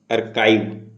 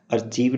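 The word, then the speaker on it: archive: हम बोलते हैं आर्काइव, अर्काइव, पूरा लेख। अर्काइव को हम अर्चीव नहीं पढ़ेंगे, अर्चीव प्रोनाउंसिएट करेंगे तो ये गलत होगा, ठीक है।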